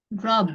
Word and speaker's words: robbed: rob, Robbed. rob, Robbed. rob, Ada D-nya. rob, Robbed. Jadi ada getarannya gitu ya. Ada getaran di tenggorokan seperti bunyi pada huruf B, B, G, G, B, G, R, R.